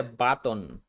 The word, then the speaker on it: button: In button, the final syllable contains a final unstressed t plus n combination. We say button. button. Bro, what is button? And notice how the T consonant changes to a stop T.